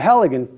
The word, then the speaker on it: Halligan: so this tool increased greatly in efficiency the Halligan tool is pronounced just like that H al Li GaN